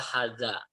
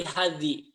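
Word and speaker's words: هذا: Jadi walaupun ini gundul, tidak ada tanda baca, kita yakin ini dibacanya adalah hadza. Artinya ini. Dimanapun posisi kata ini, mau ada huruf jar, misalkan fi, tetap fi hada. Tidak akan menjadi fi hadhi, gitu ya.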